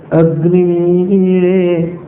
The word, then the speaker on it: ಅಗ್ನಿ: ನಾನು ಆಗ ಹೇಳಿದೆ ನೋಡಿ, ಅಗ್ನಿ, ಅದರ ಉಚ್ಚಾರ ಇಲ್ಲಿರಬೇಕು. ಅಗ್ನಿ ಅ ಅನ್ನುವಾಗ ಅದು ಅನುದಾತ್ತ, ಕೆಳಕ್ಕೆ ಪ್ರೆಷರ್ ಕೊಡೋದು. ಅದನ್ನು ಕುತ್ತಿಗೆಯಿಂದ ಕೆಳಕ್ಕೆ ಹೇಳಬೇಕು. ಅಗ್ನಿ ಗಿಣಿ ಅನ್ನೋದು ಮೇಲಕ್ಕೆ ಹೋಗಬೇಕು, ಅದರ ಪ್ರೆಷರು. ಅದು ಬಾಯಿಯಿಂದ ಮೇಲೆ, ಕಂಠದಿಂದ ಮೇಲಕ್ಕೆ ಹೋಗಬೇಕು.